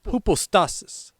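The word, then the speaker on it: ὑπόστασις: This Greek word is pronounced hypostasis.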